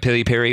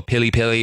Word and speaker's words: piri piri: different dialects for Swahili this word piri piri or pilly pilly or like a different pronunciation of it seems to exist across